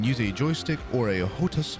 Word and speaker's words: HOTAS: You can use a joystick or a HOTAS, I think that's how you pronounce it, a HOTAS, H-O-T-A-S, that